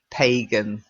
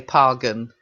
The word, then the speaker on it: pagan: phangan but honestly I if you're talking normally you would say pagan so like that pagan okay but I have heard people say pargun it's a bit pretentious to be on this because the dictionaries say pagans okay very good any